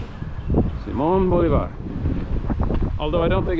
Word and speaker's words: Bolivar: The best you, like I said, the most kind courtesy you can provide him is to pronounce his name correctly. Simone Bolivar.